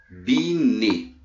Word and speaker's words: Binet: teorema de biquíni e bine se escreve binet mas nós costumamos falar pne tão tá aqui ó